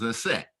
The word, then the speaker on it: Aset: Her name was Aset. In today's language, again, that's the correct pronunciation of her name.